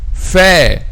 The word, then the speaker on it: ف: Actually, the point of articulation of the letter F is the lips.